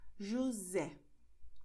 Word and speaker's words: José: And this happens when you have the letter S between vowels. For instance, when you say José. You see, the letter S is between O, E. So you're going to say José.